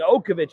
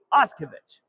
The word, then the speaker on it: Ovich: I was saying Okovic earlier. It's actually pronounced Ovich.